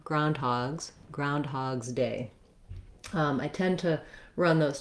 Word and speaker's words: Groundhog's Day: once i can say groundhog's day oh and also we have the first syllable stress so the main stress in groundhog's day the phrase is on the ground part so once i can